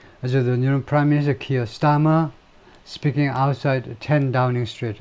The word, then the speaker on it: Keir Starmer: Keir Starmer's party, Keir Starmer라고 발음하죠.